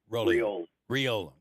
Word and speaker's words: Riolo: And pronounced? Riola.